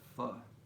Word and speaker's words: pho: That's how you pronounce it, pho.